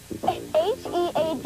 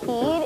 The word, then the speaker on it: head: H-E-A-D is not heed, it's head.